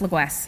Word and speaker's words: Le Goues: me so formally but that name is pronounced Louis so there's your fun fact